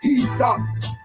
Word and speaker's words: Jesus: were no J's in Hebrew. Jesus is pronounced as he's us.